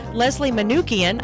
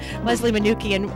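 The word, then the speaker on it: Leslie Manookian: of course awesome awesome so we're talking with Leslie manukian I said it right this time Leslie manukian um who is uh we're talking about vaccines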